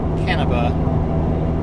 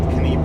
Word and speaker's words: Canepa: I apologize, it's actually Canepa, not Canepa. I had the emphasis on the wrong syllable.